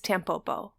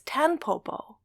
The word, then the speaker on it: Tampopo: the word nion but you pronounce it as an M when it comes next to a consonant pronounced with the lips initially put together like a p as within the word